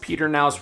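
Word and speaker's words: Pedernales: Fredericksburg does have the Perkins River technically is pronounced Peter naus River but it doesn't go right through the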